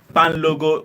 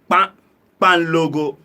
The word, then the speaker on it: kpanlogo: Yeah, it's called Pan Logo. We spell, this is how we spell it: KPANLOGO. KPAN. But you can, the pronunciation is Pan Logo.